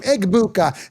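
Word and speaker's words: Egbuka: I just have a problem with the G being silent. Pronounce your name in in pride. Be happy about it. Be proud of your name. Eggbuka. Say it loud. Say it proud. Pronounce the G.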